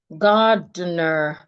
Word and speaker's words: gardener: gardener instead of gad. People say gardener they feel the word has two syllables. No, the word has three syllables.